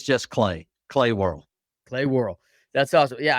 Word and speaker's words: Worrell: whirl that's awesome yeah and I'm saying War El so you got to correct me when I'm no no no that's greatable man that's impressive one syllable in wh you're doing it good you're doing it I mean you're actually doing it right it's just this